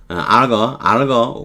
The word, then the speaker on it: Olga: They were eating the main dish, 주 요리를 먹을 때 Olga's mother, 알거 우리말로는 보통 올가라 그러지만 알거 이렇게 발음하겠죠.